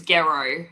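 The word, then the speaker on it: Gero: clarify for everybody it rhymes with it rhymes with hero so it's go like hero That's how I always remember it.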